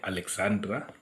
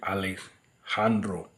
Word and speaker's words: Alejandro: star boy Alexandro gachu some people think he's called Alexandra but in the spelling there's a j so I don't know if some of us English speaking people H do we know how to pronounce it we just say Alexandra kashio but he called Alexandro kashio the J is a bit silen I hope if I